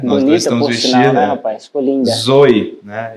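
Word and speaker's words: ζωή: é essa palavra é na verdade a pronúncia do grego seria Zoe né Tem um acento Zinho aí no e mas traz uma ideia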